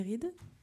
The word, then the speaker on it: Ride: Gabon, de Valérie Ride, on dit Ride, voilà, j'ai bien prononcé, professeur agrégé à l'école